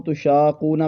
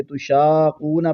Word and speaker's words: تشاقون: لفظ دیکھیے، اس کو تشاقون پڑھ لیتے ہیں، جبکہ یہاں پر بھی مد لازم کلمی مسکل ہے، قاف کو جماؤ کے ساتھ ادا کریں گے تو یہ لفظ صحیح طور پر ادا ہوگا۔ این شرکائی الذین کنتم